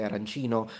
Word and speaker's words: arancino: the rice bowl, that in Palermo we say arancina, but in the rest of Sicily they say arancino. So for us it's female, for them it's male, feminine, masculine, I mean, and it's actually a big thing.